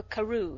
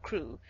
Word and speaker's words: Crewe: "Madame Pascal pronounced it as if it were Carew instead of Crewe, but that might be merely a matter of pronunciation.